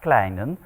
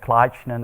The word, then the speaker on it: Kleijnen: How to pronounce it in Dutch is Kleijnen, and the French have no problems with that pronunciation, but the Germans and the English have a lot of problems.